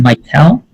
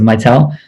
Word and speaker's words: Mitel: Is it Mitel? Yes. Yeah, okay, awesome. Mitel, thanks so much.